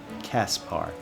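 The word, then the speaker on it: Caspar: bar by the way pleased to meet you Kaspar okay and that's it that is me that is how it's pronounced Linhart goodbye Lyn our how'd you get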